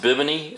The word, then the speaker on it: Bibene: i've heard it pronounced bibony i've heard it pronounced a couple ways i'm just going to call it a bi-bean it's good enough on the by being the